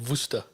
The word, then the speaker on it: Worcester: Well, I mean, in South Africa, we call it Worcester. Yeah. We put a V on there because the W is pronounced with the V.